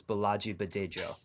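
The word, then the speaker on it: Bolaji Badejo: I did it just a little bit wrong. The J's are harder. It's Balaji Badejo.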